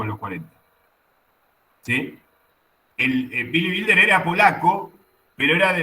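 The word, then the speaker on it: Billy Wilder: Bueno, no lo eh el que vos decí es Billy Builder. Builder se pronuncia.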